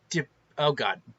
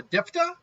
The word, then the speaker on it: Diphda: question, what is Alisha Diphda? Because the PH I think is silent, so Diphda? or Diphda. I think it's Diphda.